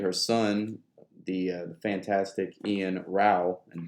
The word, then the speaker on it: Ian Row: son the Fantastic Ian raal and don't say row it's not row it's raal I'll be I'll be